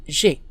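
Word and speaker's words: j'aie: This sounds the same as the present indicative, I have. J'ai, J apostrophe A-I, but as we can see, the subjunctive form is spelled differently with an E on the end.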